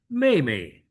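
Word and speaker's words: 妹妹: Now, for younger sister, it's 妹妹. A fourth tone may, and the second syllable may is into neutral. It becomes, neutral.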